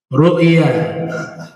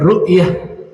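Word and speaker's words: رؤيا: Ru'ya al-anbiya'i wahyun. Mimpinya para nabi adalah wahyu. Dibacanya ru'ya ya, jangan ru'yah. Ini perbedaannya. Kalau ru'ya tanpa tak marbutoh, ru'ya saja.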